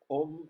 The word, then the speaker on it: Om: Om is actually three syllables. A, U, um. So it's Om.